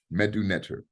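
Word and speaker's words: Medu Neter: period for the metronetor uh the Metro nature is spelled MDW mdwn-e-t-c-h-e-r n-e-t-c-h-e-r medu Netter so they cannot find any recordings of it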